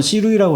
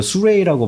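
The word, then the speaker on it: Sirui: 우리나라에서는 시루이라고 하는데 이거 수레이라고 발음을 하더라고요.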